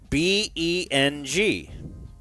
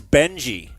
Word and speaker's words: Beng: desk, and it read B-E-N-G. I phonetically pronounced it as Beng. like he's Vietnamese? The kid gave me a cocky, condescending look and said, "My name is Benji."